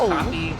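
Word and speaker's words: Hapi: happy which I mean is pronounced happy but also but but also happy but I I can't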